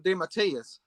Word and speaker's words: DeMatteis: And well, I always pronounce it J.M. DeMatteis.